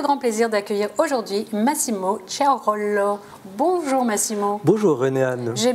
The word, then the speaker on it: Ciraolo: J'ai le grand plaisir d'accueillir aujourd'hui Massimo Ciarollo. Bonjour Massimo. Bonjour René-Anne. J'ai bien prononcé votre nom de famille?